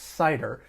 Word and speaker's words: CIDR: called classless inter-domain routing CIDR and actually pronounced cider due to its historical